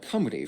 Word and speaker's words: Cymru: walla, meaning foreigner, while the Welsh call it cumry, from the Celtic word for country. It's also in this how do you say that? meaning foreigner, while the Welsh call it Cymru from the Celtic.